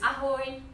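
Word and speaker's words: ahoj: So for hi we use ahoy.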